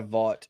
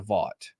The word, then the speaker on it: Vought: He answers to Vought. That's the company that owns his image, basically. The G is silent. Not when we say it, though.